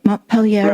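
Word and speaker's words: Mont Pelerin: Well, it also sounds, the Montpelier, am I pronouncing that correctly? Montpelier Right.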